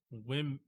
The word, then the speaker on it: women: that yep yep and the O in wit women women makes a short I sound it oh that's